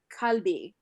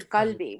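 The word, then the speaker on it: قلب: So it's kalbi, but it's actually qalbi in Arabic, more You guttural. know what the trick is? The trick is try to pronounce a Q and a G at the same time, and then you'll get qalb as Yeah.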